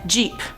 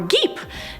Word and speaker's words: geep: move on to number five jeep or geep no i'm not talking about the card jeep this is about g-e-e-p and i was probably right the second time saying it's a geep this hybrid is a